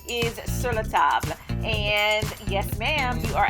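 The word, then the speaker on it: Sur La Table: cookware set, the name of it is not Sir Table. The correct pronunciation is siratab.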